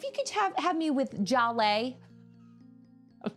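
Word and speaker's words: Zhaleh: And it was pronounced Jalais. Jalais. So is that Jacques? Jacques Lacan. Welcome, Jacques. That's what I'm gonna call you. Sorry. It's like a J.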